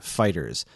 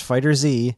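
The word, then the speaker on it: FighterZ: We can confirm officially that we pronounce it like the word fighters. Not Fighter Z, not Fighter Z, not Fighter Zeto, not Fighters, fighters.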